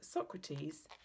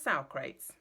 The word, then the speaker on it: Socrates: I pronounced the great Greek philosopher's name, Socrates, as Socrates.